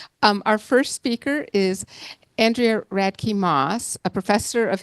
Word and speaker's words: Andrea: me come back here again um I actually pronounced my name Andrea but people um sometimes call me Andrea but it might not be relevant if you